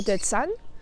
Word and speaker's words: Zahn: Donc tu vois, la voyelle qui est juste avant le H est plus longue. Par contre, le H n'est pas prononcé comme un H. Donc là, c'est un H muet.